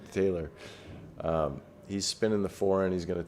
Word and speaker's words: Tayler: Okay, so Tailor here, if by the way, Taylor, if I ever say your name wrong, I I keep saying Tyler. Taylor, um he's spinning the four in.